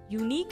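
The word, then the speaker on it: unique: यूनिक में क्या होता है, UNIQ, यूनिक, UE क्या है, साइलेंट है।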